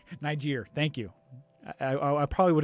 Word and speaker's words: Niger: I don't know how to pronounce that because if I try, I'm going to slaughter it horribly. Niger. Niger.